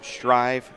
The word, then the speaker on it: Strive: hashtag it sells yes we do spell it a little bit like strip but notice above the eye it does say the long I so strive is how you do say it streaming live put it